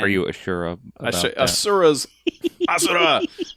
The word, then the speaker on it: Asura: Asura's Asura? That's actually how they say it in the game.